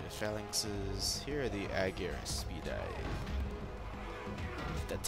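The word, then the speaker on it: Argyraspides: Here are the Aegir Speedeyes. That's how you pronounce it.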